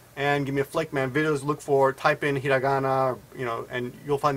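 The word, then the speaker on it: ひらがな: Hiragana looks like that, and of course it's pronounced Hiragana, right?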